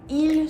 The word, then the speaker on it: ils: The S at the end of il and elle are still silent.